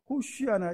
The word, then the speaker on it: 호산나: 호산나가 이제 정확히 발음을 하면 호시아나 이렇게 되는데 우리말로 말하면 구원하소서라는 뜻입니다.